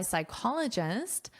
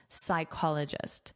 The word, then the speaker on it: psychologist: According to research by psychologist Gloria Mark. So, notice the pronunciation here. Sy. So, there's no P in the pronunciation. Psychologist. Psychologist. And this is your syllable stress.